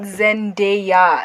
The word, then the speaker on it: Zendaya: there one whatever no it's not zendaya it's three syllables it's not monosyllabic but